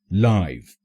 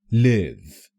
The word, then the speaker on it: live: As an adjective, it's pronounced live, and as a verb, it's pronounced live.